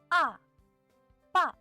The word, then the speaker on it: 爸爸: Well, but in fact, this character is ba, ba. Initial, final, fourth tone. Ba.